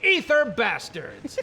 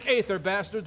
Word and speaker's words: Ether Bastards: notorious pirate crew the ether bastards some people pronounce it eighth are bastards but they're wrong now why don't you